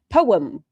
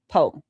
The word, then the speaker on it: poem: that Poem is definitely two syllables. Well, I say words wrong anyway. Poem. Poem.